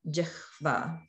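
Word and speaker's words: jihva: So there are other words like the word jikhva, which means tongue, where there's H followed by a V. But in that case, we don't switch the sounds because it doesn't meet the rule for the na sounds. So that would be jikhva, jikhva for tongue.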